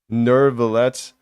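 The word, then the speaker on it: Neuvillette: what I'm saying nibbling I call nuevalette as niblet that's that's something apparently it's pronounced nervelet isn't communos I know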